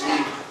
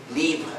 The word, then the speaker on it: libre: which is called Linux Libre. Linux Libre. It's a French or Spanish word. In French it's pronounced libre. In Spanish it's pronounced libre.